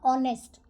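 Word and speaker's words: honest: एच लिखा होगा आप आपने ऐसे लिखा एच तो इसको पढ़ोगे तो नेस्ट बट ये गलत है नेस्ट नहीं होता कुछ भी यहां पे एच जो है वो आपका साइलेंट होगा तो ओ का साउंड आपको आएगा ऑनेस्ट ऑनेस्टी ये सारे शब्द हैं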